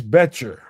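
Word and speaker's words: Boettcher: This is linebacker Bryce Bettscher. The O is silent.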